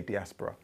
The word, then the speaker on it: diaspora: with me diaspora yeah it's spelled diaspora but you have to say diaspora and when you get